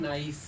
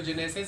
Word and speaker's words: gneiss: कहने में है नाइस, तो नाइसिस कहते हैं, नाइसिस, GNEISSES, ठीक है। इसको जेनेसिस नहीं कहना है, इट इज़ नाइस। इसका लिखने में मीनिंग ये आएगा, ये प्रोनाउंसिएशन है नाइस, ओके।